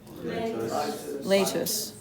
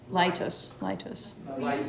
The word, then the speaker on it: Laetus: Laetus. Litus. I heard the medieval pronunciation.